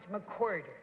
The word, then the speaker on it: McWhorter: And that there is, that is Ham Dickens, and that is Joe McWhorter, pronounced McWhorter.